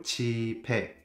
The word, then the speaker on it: 집에: But one question here I pronounce 오늘 집에 늦게 와요 집에 not the s sound you know why because